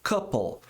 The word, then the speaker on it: couple: Couple. Esse E não é pronunciado, mas o L é.